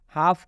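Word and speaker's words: half: उच्चार नहीं करना है एल के बाद जब एफ आता है तो इस एल का उच्चारण नहीं करेंगे हाफ का मतलब होता है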